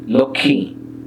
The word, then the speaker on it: লক্ষ্মী: হয় না, তবে এক্ষেত্রেও যুক্ত ব্যঞ্জন বর্ণের শেষ বর্ণটিকে প্রমিত উচ্চারণে সামান্য সানুনাসিক করে তোলে। যেমন লক্ষণ, লক্ষ্মী, যক্ষা।